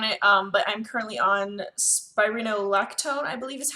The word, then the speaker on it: Spironolactone: I'm not going to show you the bottle because it has my full name and everything on it, but I'm currently on Spironolactone, I believe is how you say it.